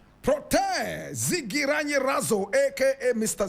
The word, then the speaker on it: Protais: Protais Zigiranyirazo. Protais Zigiranyirazo. Protais is spelled P-R-O-T-A-I-S.